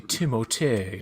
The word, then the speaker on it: Timothée: What is he, Timothée. Canadian? No, he's from New York, but his dad is French. Timothée is the way you're supposed to say it, but he just didn't want to correct anybody.